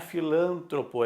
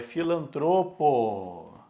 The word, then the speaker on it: filantropo: depois quem pratica filantropia não é filantropo é filantropo filantropo filantropo e quem